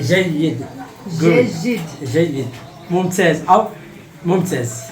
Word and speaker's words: جيد: Jejid. جيد. Jejid.